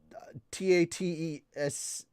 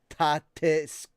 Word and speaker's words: TATESC: Bookwalker Global announced on Wednesday that it will launch the comics vertical scrolling webcomic brand in English, pronounced Tatesk, or for Tate vertical and SC scrolling.